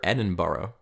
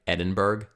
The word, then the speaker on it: Edinburgh: When you see it spelled out, it looks like Edinburgh. Yep. But it's like borough, right?